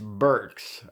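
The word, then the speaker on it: Birx: Burks I finally said it right BR be irx Burks okay and he hasn't shown up a lot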